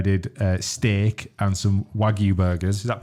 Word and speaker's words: wagyu: Saturday where I did uh steak and some wagyu Burgers is that pronounced right astradam is that right yeah w-a-g-y-u